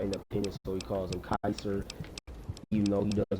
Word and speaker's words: Caesar: Joshua Grim called Caesar Caesar, but Caesar prefers being called Kaiser. The way um either the Romans would either pronounce it or the way they would pronounce